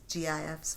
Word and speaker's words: GIF: You can create little little gifs, gifs, GIFs, whatever that is.